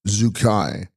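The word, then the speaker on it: རྫུས་སྐྱེས: birth text Zeus Sky pronounced Zuki meaning to be born in Disguise Z equals to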